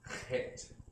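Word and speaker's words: ח: The Het, like in Bach, like Bach was the dude named the composer, Bach, right? So it's a Het.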